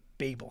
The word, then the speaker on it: Babel: passage is the story of the Tower of Babel or Babel however you want to pronounce it I usually use Babel but what jumped out to me this year